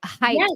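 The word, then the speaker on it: Haidt: I know he said Heights but is that spelled like um it's actually spelled h-a-i-d-t oh okay pronounced height but yeah it looks like hide it h-a-i-d-t Jonathan height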